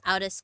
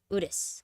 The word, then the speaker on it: Udis: I thought it was Outis because it was like out. Udis.